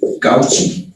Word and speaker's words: Cauchy: Se escribe Cauchy o Cauchy, es como lo pronuncian los franceses.